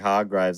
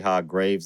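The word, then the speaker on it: Hargreeves: the umbrella academy and i was saying hard grades and then someone said it's actually hard graves and then i looked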